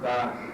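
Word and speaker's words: darśana: aspectos e finalmente os daranas darana não tem acento mas a primeira letra é a tônica primeira primeira sílaba é a tônica dasana significa ponto de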